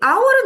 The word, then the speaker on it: hour: 그러면 이 hour은 어떻게 되는 건가요? H로 시작했는데 왜 on을 붙이나요? 자, hour에서 H는 묵음이에요. 소리가 나지 않아요. 그러면 hour 할 때 이 O가 모음의 소리가 나죠.